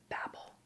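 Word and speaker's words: Babel: oh by the way it's called babble and Arcane history that's how you pronounce it um it's a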